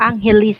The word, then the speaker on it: Angeles: Sir Tim, we as a Filipino, we pronounce Now that's it where I just Angeles.